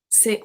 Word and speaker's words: ces: We have C-E-S pronounced c'est.